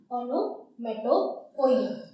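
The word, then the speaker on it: onomatopoeia: इसका प्रोनाउंसिएशन ऐसे रखना, ओनोमेटोपोइया, ठीक। अब इसको हिंदी में बोलते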